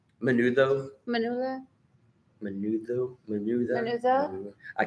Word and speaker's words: menudo: Manula? Menudo.